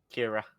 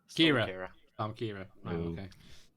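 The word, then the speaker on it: Ciara: think it's called arc I read and I pronounced it but it's Kira Kira yeah it's looking pretty brutal winds up to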